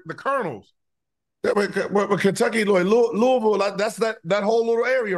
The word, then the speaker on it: Louisville: Nashville, Louisville, Kentucky. They should have a team in Kentucky. I think they pronounce it Louisville.